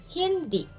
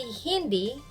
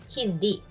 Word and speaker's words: hindi: add the word hindi stress on d hindi don't say hindi it should be hindi so you say hindi